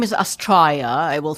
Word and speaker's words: Astraia: The name is Astraia. I will spell it.